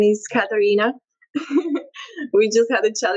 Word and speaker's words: Katarina: So, my name is Karina. We just had a chat about how to pronounce it. Yeah, it's Katarina.